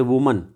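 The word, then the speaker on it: women: okay इसी तरह से वुमन वुमन का उच्चारण करेंगे वुमन क्या बोलेंगे हम वुमन और यहां पर हम थ्री वमन यहां पर हम उच्चारण करेंगे थ्री वमन यानी तीन औरतें एक औरत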